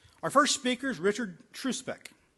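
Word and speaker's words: Trzupek: Our first speaker is Richard Truspeck. Did I pronounce that right? You just ignore that Z. Okay. Truspeck, a chemist who specializes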